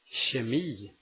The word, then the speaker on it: kemi: If the K is located in front of a soft vowel at the beginning of a word, it is pronounced sh. Kemi, kemi. Ett kilo, ett kilo.